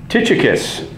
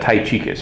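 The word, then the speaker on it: Tychicus: and then verse 21 tius that's a great name nobody ever names their kid tius anymore I used to pronounce that ta chus before I learned how to properly do it it's like you tie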